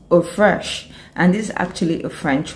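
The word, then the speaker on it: eau fraîche: first type of perfume that we have is pronounced or fresh and this actually a french word it simply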